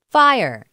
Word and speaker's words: FHIR: fast healthcare interoperable resource is abbreviated fhir and is pronounced fire it combines the best